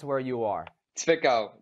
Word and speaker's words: Zwickau: Zwickau. The W is like a V.